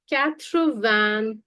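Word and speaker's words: quatre-vingt-onze: So the pronunciation goes like Croantons.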